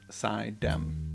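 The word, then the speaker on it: Suydam: Upstate New York places and names it is pronounced sidem okay sidm well he lives in an old mansion in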